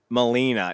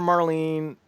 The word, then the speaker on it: Melina: get Ashley Vox versus Molina now did you notice that they were mispronouncing Molina's name the whole day called on him margolina Oh like the announcer called her Marlene Berra stoop Bennett called